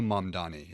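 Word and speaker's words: Mamdani: Mondani. Uh I I know Mondani is the correct pronunciation for his last name.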